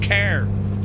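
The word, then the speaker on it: Cahir: We're near car or if you look on the map it looks like car here but it's pronounced care.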